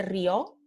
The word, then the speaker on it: rió: Como Juan se rió, Juan laughed, ¿no? Se rió aquí, no tenemos un acento aquí en la O, porque la palabra es una sola sílaba, ¿no?